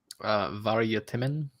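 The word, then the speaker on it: Vargtimmen: Hour of the Wolf, or how it is pronounced in Swedish. How is that in? Varje timmen.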